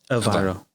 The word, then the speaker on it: Aviro: Aviro.